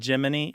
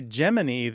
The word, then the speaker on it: Gemini: space program geminy is Jiminy as in Jiminy Cricket yeah that became their